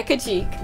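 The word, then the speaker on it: Kacheek: like fox squirrels people pictures how do you spell that k ACH ee k wow really really on the nose Erica chief yeah could cheek there we go oh this is like the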